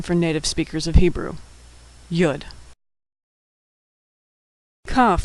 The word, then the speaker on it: Yud: Yud is pronounced Y as in yellow. Sometimes yud is part of the preceding vowel and is not pronounced at all.